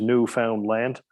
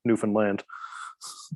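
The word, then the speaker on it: Newfoundland: the found and say Newan land put the emphasis on land yeah and but it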